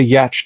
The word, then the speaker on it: yacht: Kennick says, my oldest learned to sail through the Lake Geneva Yacht Club.